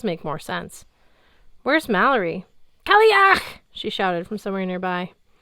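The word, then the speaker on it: cailleach: In case you're curious, the word is pronounced ki, followed by clearing a large amount of mucus from your throat.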